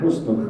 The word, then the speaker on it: husnu: Apa makna husnul khatimah? Ini terambil dari dua kata. Yang pertama husnu, yang kedua al-khatimah. Husnu bacanya harus benar, pakai ha, ya, bil ha, laisa bil kha, bukan dengan kha.